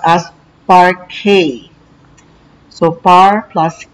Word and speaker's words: parquet: do spray buffing and vacuuming part k is pronounced as part k so par plus k is part k it